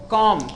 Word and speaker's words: comb: जैसे देखो लिखा जाता है COMB, इसको क्या पढ़ेंगे? कॉम। क्या पढ़ेंगे? कॉम पढ़ेंगे, कॉम पढ़ेंगे।